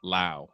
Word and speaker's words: Lowe: Brandon rhymes with now. Lau. Okay. All right. That's weird because same spelling. Other players you pronounce it low.